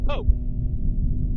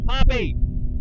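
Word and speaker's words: Poppe: And I would think that would spell and pronounce Pope, but it's Poppy.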